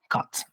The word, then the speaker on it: kat: It is a vowel rotation, so cut, not cat. Cut.